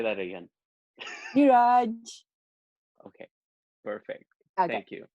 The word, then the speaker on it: Neeraj: Just to my listener, that's the right way to pronounce my name. Say that again. Neeraj. Okay, perfect. Okay. Thank you. Neeraj.